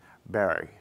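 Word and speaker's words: Barre: The New England pronunciation was Montpelier and Barry.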